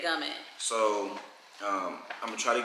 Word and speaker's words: Gumin: I don't know if it's gumming, but you know when it's Italian, gumine or whatever. Well, she said gumming.